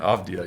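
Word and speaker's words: Avdija: I believe it's Avdia. Avdia. All right, from the Bullets. This is out of 10. I'm sorry, this is not out. Yeah, it is out of 10. Denny Avdia? Avdia, yes, sir.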